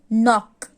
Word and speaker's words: knock: KN जो होता है ना उसमें K साइलेंट है, हम इसको क्या बोलेंगे? knock. This is not. This is neat. यहाँ पे जो K है ना वो साइलेंट है, हम K का प्रोनाउंसिएशन नहीं करेंगे, बट हमको लिखना है लेकिन बोलना नहीं है।